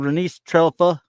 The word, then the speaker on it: Renice Trelfa: This person, Renice Trelfa, is exactly how it sounds, exactly how it's spelled.